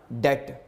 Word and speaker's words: debt: जाए, ध्यान में रखिएगा, बी के बाद टी आ जाए तो बी की आवाज़ साइलेंट हो जाती है, जैसे डाउट। इसी तरह डेट।